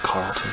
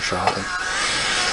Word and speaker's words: Charlton: Some people call it Carlton, but I prefer Charlton.